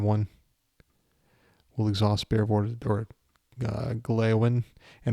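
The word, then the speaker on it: Gléowine: So his name is actually pronounced Gleowine, but I'm not going to go, let's exhaust Gleowine. So maybe I should say Gleowin at least. It's halfway there, but I'm not doing it.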